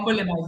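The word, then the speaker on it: Bambolim: be there in Yeah, Bambulim, isn't it? Bambulim, am I pronouncing it right? Bambalima. Yeah, it's Bambalima. Bambulim, yes.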